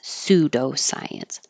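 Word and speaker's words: pseudoscience: and not enough science the PS always sounds like s pseudo science and utterance these two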